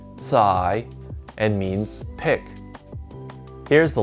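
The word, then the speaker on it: 采: and pulling out the roots this character is pronounced tsai and means pick here's the last character from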